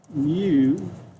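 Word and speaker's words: μ: new symbol here and this is new it's pronounced new okay and that is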